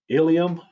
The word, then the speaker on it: ilium: So homonyms are words that pronounce the same way but have different meanings. An example, ilium.